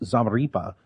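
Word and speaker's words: Zamarripa: And one of his victims was Dallas police officer Patrick, I believe it's pronounced Zamaripa, who was also a military veteran.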